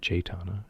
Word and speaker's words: Jaytana: Of course, my last review of Jaytana, which is how you say it, Jaytana, I'm pretty sure I said Jaytana, the entire review. I've known her for about 2 years, and I've been saying it wrong the entire time, so go figure.